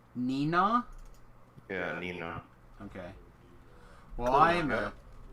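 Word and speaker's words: Neenah: in uh in Wisconsin near Green Bay it's pronounced Nina Nina yeah Nina okay well I a I'm a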